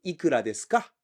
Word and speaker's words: いくらですか: And it sounded like he was saying いくらですか? We can still recognize the sound because he was saying it in the right tone. When you say いくらですか, you place accent on the first molar い.